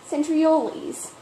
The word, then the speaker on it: centriole: And also, animal cell centromeres contain, centrioles. It sounds like fizzlies. Oh, wait, I guess you don't pronounce it that way.